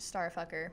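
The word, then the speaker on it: STRFKR: there's my star just it's just letters it's yeah but it's pronounced star yeah Str FK r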